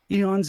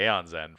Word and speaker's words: Aeon's End: have to vote off Eon's End. And yes, Eon is the proper way to pronounce it. Eon's End. Yeah. Eon's End? Yeah. I just learned something today. I've been pronouncing it Aeon's End forever.